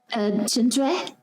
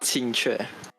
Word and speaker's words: Qingque: I believe her name is pronounced Chinchue. Almost. Oh, but how do you say? It's Qingque.